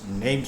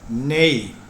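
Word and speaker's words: née: ഉദാഹരണത്തിന്, my daughter is my mother's നെയിം sake. അടുത്തത് നെയ്. നീ എന്നോ നീ എന്നോ അല്ല, നെയ് എന്നാണ് ഉച്ചാരണം.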